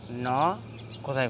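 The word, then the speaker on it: knock: Pronunciation of KN, ন এর ব্যবহার, ন কোথায় কোথায় ব্যবহৃত হচ্ছে। তো আজকে আমরা শিখবো হচ্ছে ন। শব্দের শুরুতে KN থাকলে তার উচ্চারণ ন এর মতো হয়।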